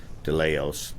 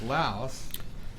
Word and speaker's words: Laos: of Khe Sanh, and we went on the aggressive, they call the aggressive move, that we're going to go into Laos.